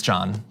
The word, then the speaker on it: John: Yeah, the only issue I have is that you mispronounced my name. It's not Join, it's John.